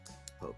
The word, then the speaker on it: Phok: Phok with a silent H.